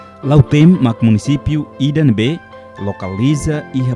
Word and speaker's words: Lautem: Antau naran Lautem ema pronuncia tambah ho influencia husi kolonização nenia. Mas be originalmente hatete kata Lauteino.